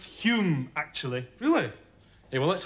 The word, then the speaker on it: Home: I get him confused with Alec Douglas Home. It's pronounced Hume, actually.